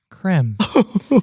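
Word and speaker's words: crème: Did you know that creme in French is pronounced creme?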